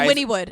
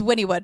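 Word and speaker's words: Wynnewood: Windwood Oklahoma you guys Winnwood it's Winnwood a win even it spelled like Winwood but it's Winnwood don't come please I'm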